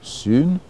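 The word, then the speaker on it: σύν: une particule, syn, S-Y-N, qui est prononcé en grec sun et en français syn, pour indiquer qu'on est avec, ensemble.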